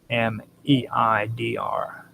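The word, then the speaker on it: Mímameiðr: Mimamider, whichever way you spell that, it's Mimameidir. Mimamider is sometimes seen as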